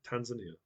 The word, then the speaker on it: Tanzania: Tanzania.